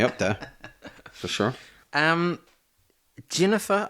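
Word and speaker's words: Ginnifer: Um, Jennifer, I think that's how you pronounce it. Spelled with a G.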